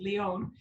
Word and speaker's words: Leon: My name is Leon. Oh my goodness, I did it. It's spelled like lion, but that's okay, it's common.